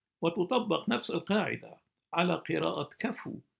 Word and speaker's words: كفو: نفس القاعده على قراءه كفو على وزن فعول كما تلفظ في اللهجات الشاميه وليس وليس وليس كفوا وفهمت ولم يكن له